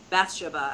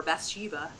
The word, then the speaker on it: Bathsheba: So just very pastoral feeling, and the protagonist in this, Bathsheba, as the British would say, or Bathsheba, as Americans say it, I don't like her, and I still adored this book.